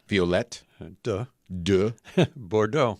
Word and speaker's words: Violette de Bordeaux: Violette de Bordeaux.